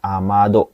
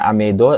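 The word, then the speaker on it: 雨戸: Bacanya jangan amedo atau ameto, tapi amado.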